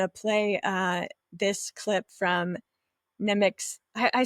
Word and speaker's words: Nemik: So with that, I'm going to play this clip from Nemik's.